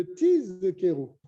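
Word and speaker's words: תזכרו: Il faut bien prononcer le Zain de Tiz Kero. Et Uzechartem. Là aussi un Zain. Shelo Tidme Kriata les Samer. Pour pas que le Zain se transforme en Samer.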